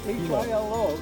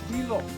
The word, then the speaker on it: Hilo: The town 30 miles from here, H-I-L-O, is Hilo. Please do not say Hilo. Like the Spanish word fiesta, F-I, right? You pronounce the I as it is, the E is okay.